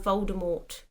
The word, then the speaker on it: Voldemort: that's what it's Lord Voldemort ah ah learned something yeah and then JK rolling was no you don't pronounce it with the T shut up she changes